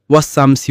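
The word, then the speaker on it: وَالشَّمْسِ: তিনি বললেন, ওয়াশ-শামসি ওয়া দুহাহা। উচ্চারণ ওয়াস-শামসি ওয়া দুহাহা, অর্থ শপথ সূর্যের এবং তার প্রভাতের।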